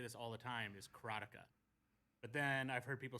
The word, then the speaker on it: Karateka: I pronounce it, and I've always pronounced it, and you're going to hear me say this all the time, is Karatica. But then I've heard people say Karatika, Karateka, and Karateka in other ways. But Karatica is the way I've said it, and I